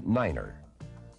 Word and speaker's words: Niner: to represent these letters 9 is the only number pronounced differently it is set as Niner the key to good